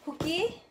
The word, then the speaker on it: Fuki: Bigkas. Magkamali. Ayan, Fuki, guys.